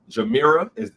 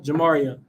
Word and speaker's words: Jamaria: Jamira, did I say it right? Jamira? Jamaria. Jamaria. See, I'd have said it wrong and I'd have felt like an ass.